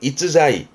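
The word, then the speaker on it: 逸材: 발음은 이츠자이.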